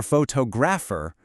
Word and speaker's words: photographer: But for photographer, the beat moves to the beginning.